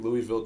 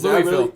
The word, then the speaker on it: Louisville: was down south and I said Louisville yeah they lady was like excuse me it's Louisville I was like oh